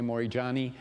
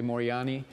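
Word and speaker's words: Moorjani: I'm pronouncing her name some say Mori johani but I'm going to say morani uh and her book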